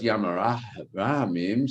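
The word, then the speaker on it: ים הרחמים: But in their pronunciation, there's no het. And so it's Yam HaRachamim, Salah Lanu, Hasilanu.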